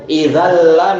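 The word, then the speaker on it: إِذًا لَّ: jelas nampak kan, yaitu ada tanwin di situ. Idalla minadzolimin. Idal la. Nah, jelas dia ee nunnya itu tidak nampak secara khat dia tidak ada secara tulisan tetapi secara pengucapan ada. Hanya saja kita bilang ada tapi nunnya sudah langsung apa diidgamkan dengan lam idan la menjadi apa? Idalla secara khad tidak nampak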